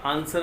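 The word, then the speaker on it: answer: और आप ले लीजिए जैसे जैसे आंसर वर्ड है आपका, और सॉर्ड है, ये भी इनके एग्जाम्पल है। इसमें भी W जो है वो साइलेंट रहता है।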